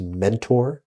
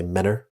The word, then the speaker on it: Mentor: in a town called it's should be phonetically pronounced Mentor mentor and we all say Menor you don't say your tease there either but only with